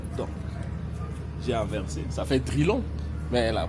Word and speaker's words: Drylan: Donc je pas cherché loin donc j'ai inversé ça fait drillan mais la prononciation j'ai voulu que ça soit drillan d'